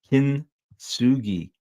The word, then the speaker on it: Kintsugi: Kintsugi, kin with the emphasis on the first syllable.